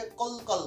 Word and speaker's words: কলো কলো: তারপর কল, অনেকে আবার এটাকে কল কল বলে, না না না, এটা কল কল না, তাহলে এটা কি হবে, কলো কলো।